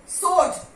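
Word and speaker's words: sword: सोड, डब्ल्यू is silent.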